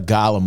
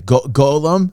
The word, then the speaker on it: Golem: caught a Gollum last week cuz I just it just dropped last week and everybody's like, "That's not how you say it, D. It's not part of Lord of the Rings." Well, I'm sorry. It looked like it. Okay, I'm so sorry. Golem. Am I saying it right now?